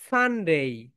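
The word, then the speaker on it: Sunday: ওকে, next যেটা আমরা ভুল করি সেটা বলি সানডে, কিন্তু রাইট প্রোনাউন্সিয়েশন বলো সানডে, সান ডে, বলো সান ডে, সান ডে, সান ডে।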